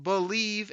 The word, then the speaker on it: Bleav: It's called Believe in Lions, and that's spelled BLEAV on the Believe Podcasting Network with both myself and Lions legendary safety Benny Blades.